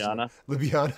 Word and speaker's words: Ljubljana: going to butch, I don't know how to pronounce L and J back to back twice. Ljubljana.